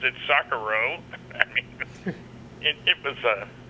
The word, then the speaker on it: Socorro: And he changed the place from Roswell to Socorro, or as he pronounced it, Socorro.